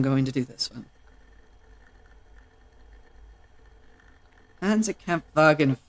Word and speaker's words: Panzerkampfwagen: Because in German dialect, W's are pronounced as V's. So it's Panzerkampfwagen and Luftwaffe.